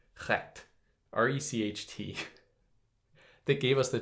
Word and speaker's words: Recht: So must also account for the term, like I'm going to pronounce this right, recht, R-E-C-H-T, that gave us the term right, recht.